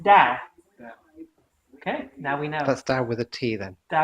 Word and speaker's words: Tao: It's not Tao. It's Tao.